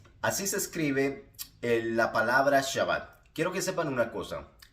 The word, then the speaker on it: Shabbat: el cual tiene un nombre propio se llama shabat y se escribe ese h a b b a t